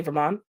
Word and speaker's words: Vermont: I have an accent I don't pronounce the t's at the end of Vermont oh so you say Vermont interesting I've never thought